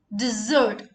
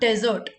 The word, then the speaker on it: dessert: Dessert, not desert.